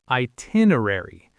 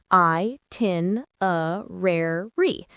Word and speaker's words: itinerary: Itinerary. Itinerary. Normal speed, itinerary. You know the drill. That's another tricky one with lots of syllables. I-tin-a-rare-re. The rhythm helps. It does.